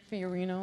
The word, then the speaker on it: Fiorino: Fran Fiorino, am I saying it right?